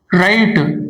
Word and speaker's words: write: For example, write that is W R I T E. But pronunciation is initial sound is R. So here W is silent.